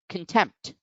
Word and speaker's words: contempt: syllable next we have contempt contempt over here you find that the apostrophe is over the second syllable so tempt is the syllable which gets accented contempt and in some